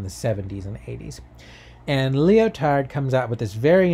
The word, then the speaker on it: Lyotard: The first one comes from the French philosopher Jean-François Lyotard, and he, so I'm over-pronouncing the French to be very clear, Lyotard, he wrote the famous book The Postmodern Condition, A Report on Knowledge in the 70s.